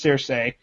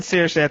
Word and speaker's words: Cersei: He said, we, quote unquote, we need to talk about the way Caleb chooses to pronounce Cersei. I've always said Cersei.